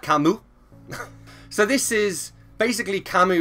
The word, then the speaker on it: Camus: okay then we have let me try and do the French pronunciation we have Albert Camus so this is basically